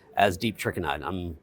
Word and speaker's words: Trikannad: And on LinkedIn as Trikannad.